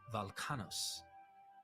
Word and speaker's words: Velchanos: Young Zeus, known as Koros, was also named Velkanos. Here, the W in the name is pronounced as a V, and the ch is pronounced as k. So Velchanos should be Valkanos, and has thus been